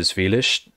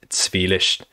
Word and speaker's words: Zvilish: I have like in the town of Zvilish, and by the way, people were telling me I was pronouncing it wrong. It's pronounced Zvilish apparently, or something more like that.